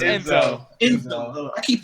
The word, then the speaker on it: Enzo: he's making fun of you for saying fucking NZO. You say his name like that every time, Anthony. I swear to God. What is this? Enzo? It's Enzo.